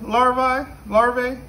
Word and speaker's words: larva: These are beetle larvae. Am I pronouncing that right?